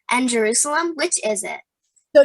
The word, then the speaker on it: Jerusalem: you've pronounced yerushalayim and jerusalem which is it so jerusalem is how they say in english that's kind of like the english name and yoshilam is in